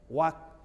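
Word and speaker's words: walk: जैसे आपने देखा होगा बहुत सारे लोग को WL के वालक बोलता है, TL के टालक बोलता है। नहीं, इसमें के पहले क्या है, L है। तो जब भी के पहले L हो, साइलेंट करके बोलना है। वाक, वाक से ही वॉकिंग बना, टाक से ही टाकिंग बना।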